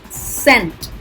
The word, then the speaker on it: scent: crumbs okay see silent scent so here c is silent scent matlab science began